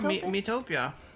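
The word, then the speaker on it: Miitopia: illuminate pokemon uh have you guys heard of me topia is that how you say it yeah mitopia you have heard the wind but i haven't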